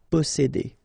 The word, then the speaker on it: posséder: Posséder, all right, here remember one vowel, two vowels here, before and after, double S, really strong S. S, posséder, posséder. Réveiller, all right, I and